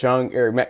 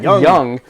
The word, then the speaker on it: Jung: by the bethl defense Matt Jung yeah I do I did I did what I told you not to do Matt Young yeah you told me how to say it right last time yes I'm still stuck